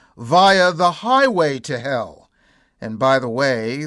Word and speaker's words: Hel: Baltic coastal town of Hel via the highway to Hel. And by the way, the town of Hel is spelled with just one L, but it's pronounced the same way.